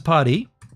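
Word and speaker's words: Parti: I think it's Party, but it's spelled P-A-R-T-I.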